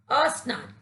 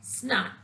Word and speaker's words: स्नान: कुछ लोग स्नान शब्द से पहले अ का प्रयोग करते हैं, जिसके कारण इसका उच्चारण अशुद्ध हो जाता है और जब हम इसके आगे से अ यानी स्वर को हटा देते हैं और शब्द रहता है स्नान, और इसी को इसका शुद्ध उच्चारण माना गया है।